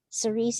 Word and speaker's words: Cerise: name yes no no you did not mispronounce my name cerise is perfect um so i wanted